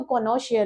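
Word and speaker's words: cognoscere: बहुत लोग जी को साइलेंट पढ़ते हैं तो कोनोशियर भी बोलते हैं। और अगर आप लेटिन प्रोनाउंसिएशन पे जाओगे तो वो कोनोक स्कियर बोलते हैं। ठीक है? वो एस और सी को स्कियर बोलेंगे। ओके?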